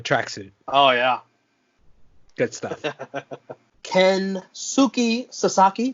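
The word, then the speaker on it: Kensuke Sasaki: oh yeah good stuff ken suki sasaki did i pronounce that correctly i think you did versus chris benoit you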